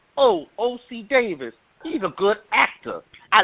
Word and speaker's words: Ossie Davis: then turned around yeah you trying to say Ossie Davis od Davis who mispronounces Ossie Davis